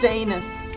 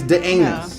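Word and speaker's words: Dans: It's pronounced Danus. Yeah, because it looks like dance, but it's Danus. Yeah, Danus.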